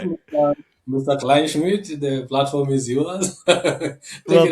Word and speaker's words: Kleinschmidt: It's Anyway, the last name is Kleinschmidt, which is very German. Klein, It's German. It's Klein, Kleinschmidt. It sounds the way it's spelled.